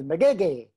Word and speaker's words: Magege: name is essie and the last name is mcgeeky did i get it right did i say